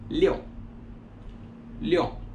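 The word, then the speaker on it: 六: 5 se pronuncia como el 6 se pronuncia como leo leo el 7 se pronuncia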